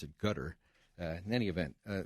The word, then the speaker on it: Qatar: that money comes from the a of gutter QA t a r used to be pronounced Qatar now they're pronounce it gutter uh in any event uh this is designed